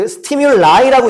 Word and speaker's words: stimuli: 그 stimulai라고 읽는 거고 얘들아.